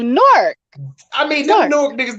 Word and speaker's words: Newark: So you gotta almost say it as if the W was silent. No, you say it as one, right? A whole word. Correct. Nork. That's how you say it right there. Right there. Take the W so you silent. Guys gotta tell us the secret. No W. Nork.